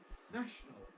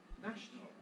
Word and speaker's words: national: we can also com we can also compress uh which of course implies that this n is nons syllabic then we get National National National National two syllables only National National or we